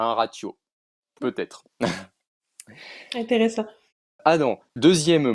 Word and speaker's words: ratiô: Ah non, la prononciation d'un mot parlant, il est le ratio, ah oui, yo final, et demi à tôt,